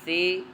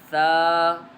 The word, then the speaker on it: ث: لہجے میں ادا کریں، اردو تلفظ سے پرہیز کریں، یعنی بے، تے، سے، حے، خے، طے، غے وغیرہ ہرگز نہ پڑھیں، بلکہ با، تا، سا، حا، خا، طا، ظا پڑھیں۔ اس مثال کو ہم